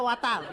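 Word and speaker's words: water: ওয়াটার না, এটা ওয়াটার। ওয়াটার। জি স্যার। জিহ্বার আগে সামনের দুই দাঁতের সাথে লাগবে।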